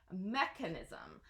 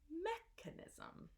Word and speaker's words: mechanism: a hard case ound mechanism so the stress is on the first syllable so it is mechanism so you can repeat after me mechanism okay can we see